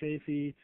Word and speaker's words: Chafee: Rhode Island Governor Lincoln Chafee. See, I don't know if his last name is pronounced Chafee.